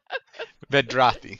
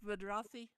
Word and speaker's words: Vedrathi: Vedrathi. Is it pronounced Vidrathi? Yes, Vedrathi. Vidrathi.